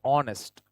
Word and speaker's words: honest: Because H is silent. We say honest, O. So the first sound that it makes is a vowel sound, O sound.